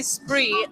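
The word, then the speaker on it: spraoi: And so you say spree, but that's spelled SPRAAOI.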